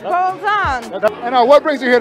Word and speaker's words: Bolzon: Yeah, that's how it's pronounced. Bolzon.